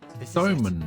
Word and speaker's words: somen: Somen noodles. That's correct. That's right. They ate a baked good that we call sakube. And that pronunciation went from sakube to sakumen to somen.